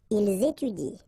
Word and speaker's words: ils étudient: exactly the same rule because you don't pronounce this and then even if sorry, if it's at the plural form, so and T, well, you don't pronounce it, so you will get ils étudient.